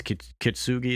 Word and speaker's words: kintsugi: accept this idea of this kintsugi, is how you say it.